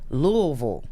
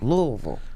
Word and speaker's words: Louisville: pistols in louisville louisville how do you say it when you're down there louisville louisville okay louisville vol like v-u-l-m louisville um more donnie